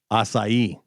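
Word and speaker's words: açaí: Asai. Asai. Asai. Asai. Three syllables.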